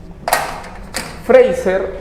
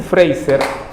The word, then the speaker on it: Fraser: su país ya entonces friser valer a Ros ya Fraser se escribe es Fraser friser es mujer Nancy Nancy friser ya Nancy freiser se declara o se